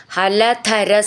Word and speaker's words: ഹലധര: ഹലധര സഖോ, ഹലധര, ധ എന്നുള്ള അക്ഷരം നന്നായിട്ട് ഊന്നി പറയണം.